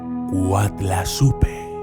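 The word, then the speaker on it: Coatlaxopeuh: término azteca del náhuatl, que se escribe Cuatlaxopeu, pero que se pronuncia Cuatlazupe, que suena muy parecido a la palabra en español Guadalupe.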